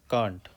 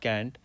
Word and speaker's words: Kant: So this Kant, as far as I know, is pronounced as Kant, as in Cant, cannot, Kant. It's not Kant.